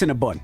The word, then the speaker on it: Cinnabon: bondsmen, like, It's yo, been Cinnabon to me my whole life. Cinnabon. Buns. Because it's like, it's a Cinnabon. You eating a bun with cinnamon and the cream cheese. So why it's spelled B-O-N?